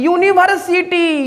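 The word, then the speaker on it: university: दीजिए गलती करिएगा सर यूनिवर्सिटी यूनिवर्सिटी यू हमारा है क्या भवेल बट प्रोनंसिएशन के अकॉर्डिंग य टी तो प्रोनाउंस में जो फर्स्ट साउंड आ रहा है वो हमारा य आ रहा है क्या आ रहा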